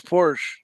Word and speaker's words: Porsche: a hood it's a bonnet it's not it's Porsche when I did a video on gluta I'd